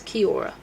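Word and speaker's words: Kia ora: I'm like, Kia or it's not that. It's Kiora. There less syllables than you think.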